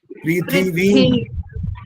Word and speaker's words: पृथिवीं: पृथ्वीं, पृथ्वीं, विम नहीं वीम, बड़ी की मात्रा बोलो, दोबारा बोलो।